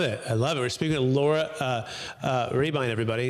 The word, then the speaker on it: Rehbein: We're speaking to Laura Rehbein, everybody. It's spelled Rehbein.